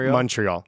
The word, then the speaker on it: Montreal: they call it montreal don't overthink it it's pronounced montreal all right practice here heels worse when i